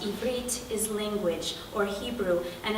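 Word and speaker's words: עברית: one word to the next because I'm bedrich pronounced ibrit is language or Hebrew and a state of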